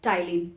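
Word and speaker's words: ptyalin: उस salivary enzyme को हम लोग कहते हैं एमाइलेज और टाइलिन. P remains silent, PTYLIN.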